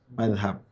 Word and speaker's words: mazhab: Dalam ejaan yang resmi di KBBI itu pakainya Z, tapi kalau di bahasa Arab sebetulnya pakainya zal. Mazhab.